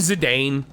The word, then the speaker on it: Zidane: and valleys I think Zidane or zidan however you want to pronounce it is one of the